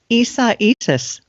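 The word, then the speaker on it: Isaias: How do you say the the new storm's name? Issais. Isaai is Yes. I know. You look at it and it looks like it says Isaiah.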